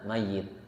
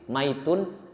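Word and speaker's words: مَيِّت: Ada ma mayit. Mayit itu pakai ee tasdid dan kemudian kasrah mayit. Karena kalau dia enggak enggak pakai kasrah, enggak pakai tasdid, maitun itu bukan mayit, tapi bangkai.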